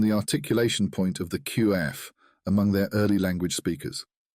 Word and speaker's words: qaf: articulation point of the qaf among their early language speakers, and that the articulation point of the qaf is broad, with its beginning from the upper palate and its end near the kaf.